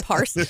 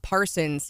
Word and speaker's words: Parson: And if you recall, when Governor Parson when Governor Parson was elected, we spent months educating people. It's not Parsons. You heard no and you S still, on the end.